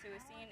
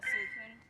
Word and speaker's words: Suicune: It's a suicine. It's a suicune. Uh-huh. Weekend. Suicune, thank you. I pronounce everything very phonetically.